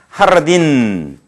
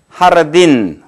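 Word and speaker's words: jardín: J는 어떤 경우에서나 우리말의 히읗 발음을 좀 강하게 하세요. 배에 힘을 주고서, 그거는 강하게. 예를 들면, 허벤, 이렇게 되겠죠. 허벤, 까, 따, 빠에서 까하, 이렇게 되겠죠. 까하, 히읗 발음을 강하게 한다. 하르딘, 이런 표현들 우리가 호따라고 하는 것은 어떤 경우든 이와 같이 히읗 발음을 강하게 해서 다 같이 하르딘 혹은 까하, 호벤 이와 같이 발음된다는 걸 꼭꼭 유념해 주시기 바랍니다.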